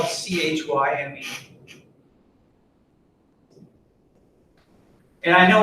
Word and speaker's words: chyme: or c h y usually you pronounce it as like a hard k sound but whatever and i